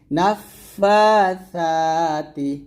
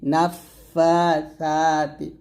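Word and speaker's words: نفاثات: খারা জবর সাজে তিটা জিহ্বাটা জিহ্বার আগাটা উপজাতের আগার সঙ্গে লাগে বলতে হবে নাফাসাতি নাফাসাতি সা উচ্চারণ করতে গেলে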